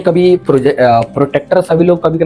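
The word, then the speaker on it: protractor: सुनिए, आयुष बिल्कुल सही बोल रहा है, इसी का नाम है प्रोटेक्टर, ठीक है। इसको कई लोग प्रोजेक्टर प्रोनाउंस करते हैं, कई लोग, जी हाँ, प्रोजेक्टर प्रोनाउंस करते हैं कई लोग जो प्रोजेक्ट करते हैं।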